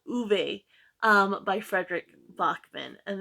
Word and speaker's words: Ove: and I don't think anybody I've heard anybody pronounce it right so it's a man called uve um by Frederick Bachman and this is going